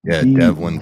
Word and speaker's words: Develon: Yeah, Devalin. What did it used to be called? Doosan. It's Devlin North America. Develon. That's their rebrand. Pronounced Devlin Construction.